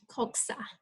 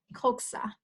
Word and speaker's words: coxa: the word is called coxa. Coxa. If you want to repeat after me so you get familiar with the words, it's pronounced coxa.